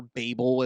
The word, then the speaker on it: Babel: I don't for instance, the Tower of Babylon, or the Tower of Babel, not Babylon, the Tower of Babel, excuse me, or Babel as some people pronounce it.